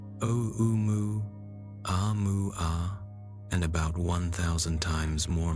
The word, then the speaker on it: Oumuamua: 3I Atlas is estimated to be roughly 1 million times more massive than the first known interstellar visitor, Oumuamua, which researchers pronounce as Oumuamua, and about 1,000 times more massive than the second visitor, 2I Borisov.